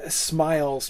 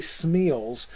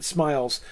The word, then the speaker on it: smials: I do believe it to be Smiles, possibly Smeals, but Smiles, because it's not the IA is not a diphthong. That is, those don't combine to form one vowel sound.